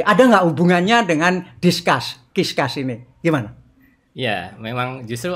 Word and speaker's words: Qiscus: Nah, saya tadi bertanya, bacanya Kiskas. Kiskas, tapi huruf Q-nya, Anda sorot huruf Q-nya, itu kayak D yang dibalik gitu. Nah, ternyata kalau itu dijadikan D, ternyata bunyinya menjadi discuss.